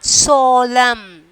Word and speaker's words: solemn: And then ninth one, solemn. Solemn. So up to that we are pronouncing. So N is the silent letters.